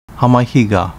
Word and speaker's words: Hamahiga: Hamahiga, pronounced Hamafija in Uchinaguchi.